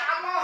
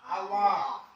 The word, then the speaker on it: Allah: Jangan kita baca Allah ya. Kayaknya apa? Kayaknya di sini ada tanda tasjid berarti E-nya harus kita gandakan atau kita dobelkan. Jadi bacanya Allah.